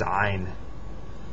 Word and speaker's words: ع: This next letter is ein. We don't have this in English. It's, pronounced in the back of the throat. It's not an A. It sounds kind of like an A, but it's not.